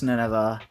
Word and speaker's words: Nineveh: Is it Nineveh? It's Nineveh, isn't it? Yes, it is. It's Nineveh. I've been saying it wrong.